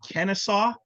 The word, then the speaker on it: Kennesaw: Kennesaw, is that right?